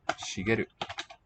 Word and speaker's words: Shigeru: My son, his name, topic, is Shigeru. Luxuriance. Shigeru. 3 syllables.